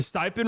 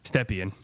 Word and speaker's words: Stepien: it's like, okay, the stipend rule is kind of off for you. Yeah, Stepien. I always call it the stipend rule. It's because it looks like that's how it looks like it's spelled.